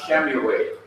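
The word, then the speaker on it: שְׁמוּאֵל: Ordinarily, without the lamed and the shwa, you have shemuel. But now that you have the li attached to shemuel, the simple shwa under the shin in shemuel is to be pronounced. So we have Shemuel.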